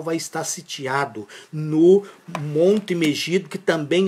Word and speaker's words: Megido: Israel vai estar sitiado no Monte Megido, que também é um monte simbólico. Ele não existe. Ele não existe. Ele é simbólico. É porque e eh ali está dizendo monte megido, meuido, como alguns pronunciam, mas será propriamente eh